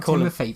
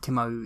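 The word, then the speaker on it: Timothée: sh sh sh sh apparently it's not Timothy by the way is it not Timothy is it just Tim no no no it's spelled Timothy because he's French apparently it's like um Tim Tim Timo it's something like Timo Tim Timo Timothy something like that oh damn but no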